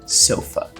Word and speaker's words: sofa: comum no inglês é a palavra sofa sofa que seria aqui sofá a gente tem aqui o nosso a aberto no português né a grafia ela é igual mas a pronúncia Ela é bem diferente e essa questão